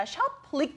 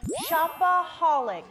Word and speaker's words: shopaholic: 근데 발음이 참 중요한 것 같은데 shopaholic이라고 호 발음이 들어가야 되는 거죠? 네, 네 맞습니다. shoplic 아니고요. shopaholic.